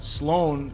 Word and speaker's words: Sloan: Sloan, SLOAN, is how you say it and how Okay. you spell it. You say SL1, you say Sloan.